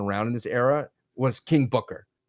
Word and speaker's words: Booker: King Booker.